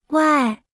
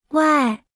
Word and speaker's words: 外: 外、外、外、外、外、外、外。 Se pronuncia con el cuarto tono. Aprendamos la palabra extranjero, escuche y repita en voz alta. 外、外、国、国、外